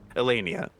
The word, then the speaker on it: Elenia: export and import from elania or elenia is that how you say it I realized I been pronouncing wrong elenia that's it that's it so you